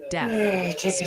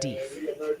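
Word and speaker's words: Deaf: The chat jury has reconvened and they're pretty adamant it's pronounced death county, like hearing loss, not def.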